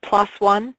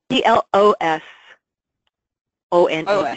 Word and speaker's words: PLOS ONE: I mean, there is a lovely site called, you're probably familiar with, Plos One. It's spelled P-L-O-S, new word, O-N-E, and that's free access studies.